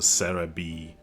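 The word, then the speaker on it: Serebii: it's uh well okay I say sell a bit but it uses the Japanese uh pronunciation so it's a Sarah B whatever yeah it's a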